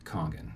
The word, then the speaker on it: Kangen: And by the way, sometimes it's pronounced Kangen, sometimes it's pronounced Kangen. I think that the Japanese actually pronounce it Kangen. Okay. So I think that's the correct way, from my understanding.